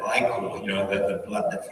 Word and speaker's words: ichor: Ichor was the answer, and a lot of people said Ichor instead of Ichor, you know, the blood that flows in the veins of gods.